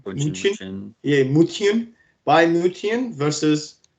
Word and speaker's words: München: Bayern, how do they pronounce it? Bayern München.